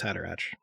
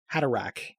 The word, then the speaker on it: Haderach: I have always had that CH as a hard sound. That makes way more sense. Yeah. Huh. Haderach.